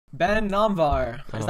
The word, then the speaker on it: Namvar: Okay, so basically, the way I would say my name is I would say Namvar, but obviously like the way you would pronounce it, like back in Iran, Persian heritage would be Namvar probably.